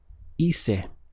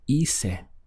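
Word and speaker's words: hice: of all I did the sound in Spanish is ISA notice that just like our go the H is not pronounced so our pronunciation starts here and the sound is ISA now how would you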